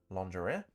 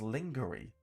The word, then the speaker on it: lingerie: It says, at 1 minute 35, pronounces a very common English word, lingerie, completely wrong and phonetically as lingerie instead of lingerie.